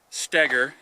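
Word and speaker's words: Stoeger: shooters shooting this gun and I'm sorry Ben stagger it's spelled Stoger but it's pronounced stagger and I I muffed it up yesterday at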